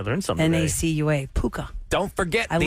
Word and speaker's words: Nacua: Puka Nakua, I think is how you say his did last name. not know I know that. that's Nakua. I learned something today. Nacua.